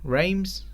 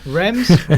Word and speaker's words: Reims: finally lost a game reims Reims you pronounce that blahblah great i hadn't already I don't speak French Remz dreams raw Reims beat